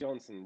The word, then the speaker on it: Johnsen: Is it Johnson or Johnson? It's Johnson. You did say it right the first time.